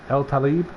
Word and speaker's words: Al-Talib: Gabe, his name is Gabe Al-Talib. Hang on, how do you say it? El-Talib.